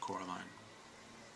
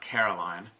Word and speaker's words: Coraline: They keep saying Coraline, not Caroline, not Caroline at all."